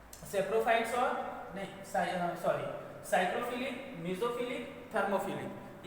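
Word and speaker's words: psychrophilic: तो कौन कौन से बैक्टीरिया है, साइक्रोफिलिक। अब यहाँ जो मैंने पी लिखा है ये साइलेंट है, ठीक है, तो ये है साइक्रोफिलिक और मीजोफिलिक और थर्मोफिलिक।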